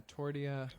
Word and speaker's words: tortilla: Totally forgot about those two L's. Tortilla. Tortilla. If you really want to get Mexican with it, tortilla.